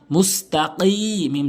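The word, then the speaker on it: مُسْتَقِيم: কফ ইয়া জেরে কি, মুস্তাকি, মিম জবর মা, মুস্তাকিমা, মুস্তাকিম, কফটা অনেকেই ভুল উচ্চারণ করে কাফ উচ্চারণ করে, কিম বলে, কিম বলতে হবে, কিম, মুস্তাকিম, সিরাতাল্লাযীনা, এখানে কিভাবে উচ্চারণ করছি,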